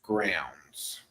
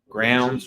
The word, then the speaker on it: Growns: pronouncing it correctly it's grounds like a crown yeah grounds rhymes with crowns yeah I don't want